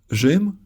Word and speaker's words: Rzym: A digraph rz is used for the zh sound when it used to be pronounced as soft r in Old Polish. Rzym is Polish for Rome.